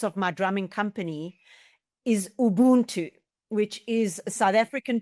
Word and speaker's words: Ubuntu: I got to make sure I pronounce it correctly. Ubuntu? Ubuntu with the U.